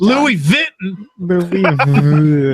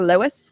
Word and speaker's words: Louis Vuitton: French representative because the American employees could not pronounce the brand right. How do you say Louis Vuitton? Louis Vuitton. Louis. I want one of them Louis Vuittons. I'll take a Lois.